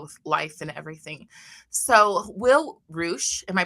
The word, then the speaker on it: Will Reusch: So, Will Reusch, am I pronouncing that right?